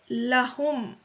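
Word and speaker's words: لهم: Lahum. So it's the preposition li that we have been studying, but it becomes lahum here. Because of ease of pronunciation, it is lahum, but it's really the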